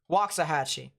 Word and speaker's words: Waxahachie: so it's like waxahachie waxahachie so you you pronounce the ah in it waxahachie that's how it's pronounced i see a lot